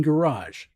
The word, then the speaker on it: garage: Like for example, the G's in garage. The first G in garage is is a hard G. Garage. The second G in garage is a soft G.